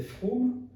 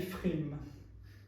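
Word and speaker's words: פֿרום: Et dans ce cas-là, on a une possibilité de dire, en Alsace, on disait Fromm, qui est une transformation de l'allemand, si je ne me trompe pas, Fromm, mais en yiddish polonais, on dit Frim.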